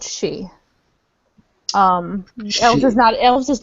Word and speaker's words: Sidhe: really at him, but She looks at the two she and she's like, "All right, she, explain yourselves to him, please." He is called a she. She is spelled Sidhe.